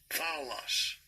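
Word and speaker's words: φαῦλος: The word that they translate as evil is, I'm going to have to have it pronounce it, P-H-A-U-L-O-S, this word. Strong's G 5337. Foulos.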